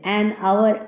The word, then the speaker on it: hour: An hour, an hour, A is there. So we pronounce here as an hour.